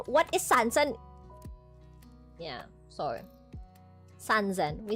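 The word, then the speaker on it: 三千: Sanszen.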